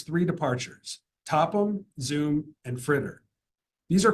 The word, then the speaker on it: FRITR: spelling of the F RIT T departure is pronounced fritter the stars on the board are the locations